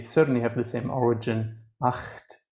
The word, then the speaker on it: acht: Acht, 8. In English, unfortunately, the GH is silent.